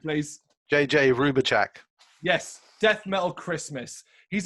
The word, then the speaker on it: Hrubovcak: J.J Hrubovcak.